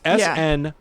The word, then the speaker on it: Snidow: It's Snidow, Okay. which sounds like if a toddler was pronouncing the name Snyder.